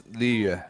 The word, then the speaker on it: Liyue: It's when we first started doing it, they were like, all right, the pronunciation is Liyue.